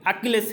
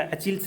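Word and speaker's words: Achilles: Next, ये बहुत interesting है, अकिलेस हिल। जी हाँ, प्रोनाउंसिएशन इसका अचिल्स नहीं है, अकिलेस हिल।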